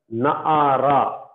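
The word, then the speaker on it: נערה: And here Na'ara. Okay. Na'ara. So here again, this vowel is very short sound, so you should put a small a sound.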